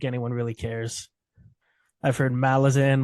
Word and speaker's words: Malazan: in the name like that's not how you pronounce it other than that I don't think anyone really cares I've heard malazin melasin Malazan it's not tolkien's uh linguistic ability behind it